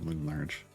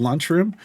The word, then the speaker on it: Loomlurch: Roots of Loomlurch? Really? Huh. I didn't know anybody was gem farm like Briv farming in Roots of Loomlurch. Where's Roots of Lunchroom?